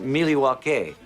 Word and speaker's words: Milwaukee: Actually, it's pronounced Milywake, which is Elgangquin for the good land.